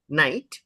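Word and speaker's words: knight: के से क्यों नहीं? ये साइलेंट है। नहीं उसी कारण नहीं है। एक्चुअली किंग ने के ले लिया ना। हां। किंग ने के ले लिया। ठीक है। हां। के साइलेंट है वो भी बात है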